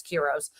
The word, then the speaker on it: Kiros: And I keep almost saying Kilos. It's not Kilos, it's Kiros.